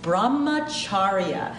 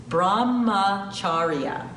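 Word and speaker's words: Brahmacharya: practice stea non-stealing the fourth Jana is called Brahma chharia as a little hard to pronounce Brahma chharia Brahma chharia Brahma chharia is all about having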